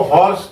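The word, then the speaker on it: hoarse: और जो गला बैठ जाता है उसको हॉर्स कहते हैं। एच ओ ए आर एस ई। यह हॉर्स की स्पेलिंग होती है एच ओ आर एस सी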